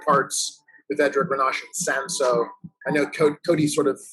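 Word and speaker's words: Cinsault: to see single varietal sanso wine so i think people don't really know it or they don't know how to pronounce it being spelled c-i-n-s-a-u-l-t but sanso is a very uh so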